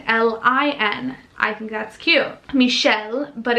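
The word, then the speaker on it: Mishel: I'll totally share it, but it is a little bit hard to pronounce for English speakers. So Lin with L-I-N. I think that's cute. Michelle, but it's M-I-S-H-E-L, like more of a phonetic spelling.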